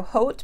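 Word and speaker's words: haute: like a hot pink it's spelled h-a-u-t-e so hot pink I think is how you pronounce it and then appleberry is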